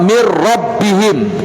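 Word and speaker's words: من ربهم: zat ataupun si sifat jadi bacanya mirrobbihim tidak tertinggal sifatnya Nun sama sekali nggak Tertinggal yaitu hati sifatnya itu bingungnya habis tidak Min rabbin mirrob mirrobbi hingga tapi secara mutlak habis itu jadi langsung mirrobbihim tidak tertinggal sama sekali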